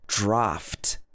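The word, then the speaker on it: draught: So in the UK, this is spelled D-R-A-U-G-H-T, but it's pronounced draft. Draft.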